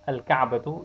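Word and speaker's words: الكعبة: Al-ka'batu, it's pronounced.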